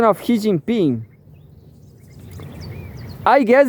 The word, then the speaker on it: Xi Jinping: It's not he. It's C. Xi Jinping.